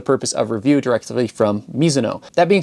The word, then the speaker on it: Mizuno: By the way, Miso is how you say it in Japan. It is a Japanese last name.